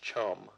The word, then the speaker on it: chm: the debug help file debugger. chm pronounced Chum is fantastic and chock